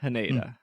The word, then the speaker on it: Haneda: Haneda or Hanada? Haneda.